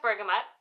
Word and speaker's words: bergamot: very long time so anyways so it is pronounced bergamot apparently umber come it's an interesting one because